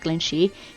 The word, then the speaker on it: Glenshee: island of iron this glen oh pronounced glenshi means accepted or fairy